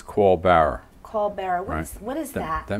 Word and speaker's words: caul bearer: Union a apple L Larry it sound it's pronounced like Co but it's co barer call barer what what is that that means I was